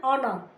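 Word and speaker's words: honor: इसमें umbrella an ऑनर ओनर इसमें एच है लेकिन वह एच साइलेंट है। हम ओनर नहीं बोल रहे ओनर बोलते हैं।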